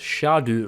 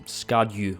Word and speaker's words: Scadu: in Old English and it's pronounced Shadow rather than scadu or worse sco which is fortunate because